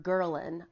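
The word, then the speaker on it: ghrelin: of course anyway Oh g h r e li n and this is produced in your stomach when you are hungry get Guerlain is how you pronounce it and what's been shown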